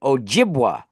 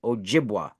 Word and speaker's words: Ojibwa: a a weed Ojibwa that's that's the word Ojibwa that's how you say it Ojibwa especially of an ojas you know this is